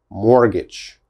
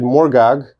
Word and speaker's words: mortgage: carefully mortgage mortgage mortgage which letters i don't pronounce well this e if i said morgog the e is necessary for the a the long a mortgage so this is important mortgage but this t is not important okay mortgage mortgage never never say mortgage that is definitely wrong it is always mortgage mortgage all right and